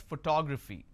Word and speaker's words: photography: how do I pronounce photography and how many syllables do I have here for two graphy four syllables but in this case I stress on the second syllable that is what word